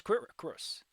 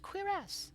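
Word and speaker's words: cuirass: called again quass quass I thought it was quir cus quass quass all right well um I saw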